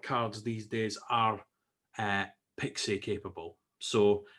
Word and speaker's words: PXE: the preboot execution environment sometimes pronounced as pixi the pixie or pixi specification is a standardized